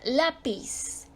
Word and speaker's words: lápiz: penúltima sílaba por ejemplo la palabra lápiz se acentúa porque su sílaba tónica está en la penúltima sílaba termina en Z que no es ni n ni ese neutral por lo tanto se acentúa También tenemos la